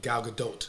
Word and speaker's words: Gal Gadot: Yeah, Gal Gadot. Excuse me, Gal Gadot. Yeah, but thank you for pronouncing it correctly.